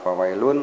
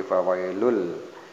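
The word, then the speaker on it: فَوَيْلٌ لِّ: Ini ada tanwin doma, kemudian berhadapan dengan huruf lam sehingga dibacanya bukan fawailun tapi fawailul. Fawailul ini ada namanya idgham, fawailul ya, fawailul.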